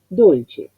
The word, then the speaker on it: dolce: La O ya me indica que es cerrada. Y nosotros para corroborar podemos pensar en el sinónimo en castellano, dulce. Entonces la U que es cerrada, le corresponde la O cerrada que se asemeja, que los labios van más hacia la dirección casi de la U.